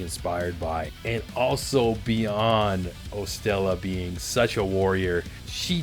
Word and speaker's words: 0Stella: That is 0STELLA, spelt with a zero instead of an O at the beginning.